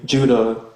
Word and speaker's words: Judah: The letter of Jude, more accurately Judah, according to the pronunciation in Greek and Hebrew.